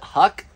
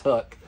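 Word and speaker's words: Huk: so this is hook I always pronounced it Huck I don't know as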